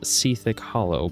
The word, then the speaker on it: Sethekk Hollow: Yes, it's pronounced Sethekk Hollow per Wowpedia and other sites. You don't have to like it, like I don't, but that's how it is.